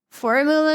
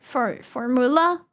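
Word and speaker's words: fórmula: how you doing They the stress is on the O, not the U. So the formula, not for formula.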